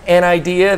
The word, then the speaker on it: Anidees: well everybody thanks for watching and thanks to an idea that's how you pronounce it it's actually their headquarters is in